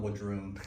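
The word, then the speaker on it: W'adrhŭn: How do you pronounce it? No, Wadrone.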